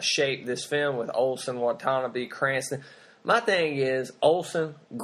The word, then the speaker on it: Watanabe: Am I pronouncing his name wrong? I think it's Watanabe. Watanabe. Okay, sorry. Ken Watanabe.